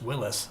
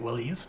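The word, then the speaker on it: Willys: I'm saying Willis and the actually the correct pronunciation this is Moosejaw Tomi is Willis by the way you know it looks like Willy's but yeah and it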